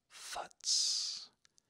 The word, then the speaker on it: futz: All right, the next one rhymes with the last one. Futz, F-U-T-Z, futz.